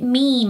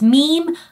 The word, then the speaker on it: meme: Where people are like, why are you pronouncing it meme? It's mem. No, it isn't. It's meme like gene, because that's where the idea of something that replicates very quickly comes from across the internet, right?